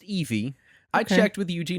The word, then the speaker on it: Ivy: I thought it was Ivy. It's pronounced Eevee.